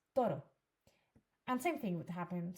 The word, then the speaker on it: toro: a lot of people a lot of English people may say toro to you know with the r pronounced like that to r and actually no it's toro and same thing would